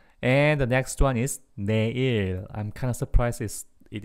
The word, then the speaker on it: 내일: Oh, like Yanne님 said here, it's in silent Korean, it's originally 레일. 레일, but we don't really pronounce real when it comes to a first consonant of a word in South Korean. So it became 내일.